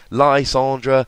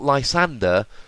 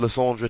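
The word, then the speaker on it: Lysandre: That's why it's not Lysander. Lysander would be ER. It's just reading the word, it's not what it says. Plus, be a bit respectful to French. I don't expect your pronunciation of Lysandra to be perfect, and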